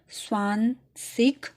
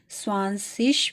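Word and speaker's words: zwanzig: आप यहाँ पे इसको स्वान-सिक भी कह सकते हैं और स्वान-सिश भी पढ़ सकते हैं।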